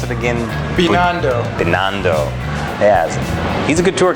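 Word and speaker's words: Binondo: around the uh manila's Chinatown how do you pronounce it again bando bando yeah he's a good tour guy yes thank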